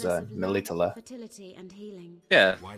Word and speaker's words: Melitele: Yeah, Melatelli is what they call her in the games. In the books, in the book, at least how Peter Kenny pronounces it is Melitele.